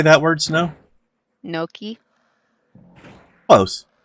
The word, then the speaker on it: gnocchi: Like their gnocchi is just like, oh my gosh. But One of the things... how did you say that word, Snow? Gnocchi?